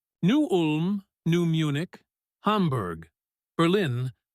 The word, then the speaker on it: Berlin: Berlin. Pronounced Berlin with the accent on the first syllable. Not Berlin like in Germany.